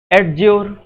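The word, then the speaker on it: adjure: Next question आपसे बोला जा रहा है एडज्योर। एडज्योर का मतलब होता है दोस्तों शपथ लेना। यहाँ पे डी जो है वो साइलेंट है, सॉरी कैपिटल बोल दिया। डी जो है वो कैसा है? साइलेंट है।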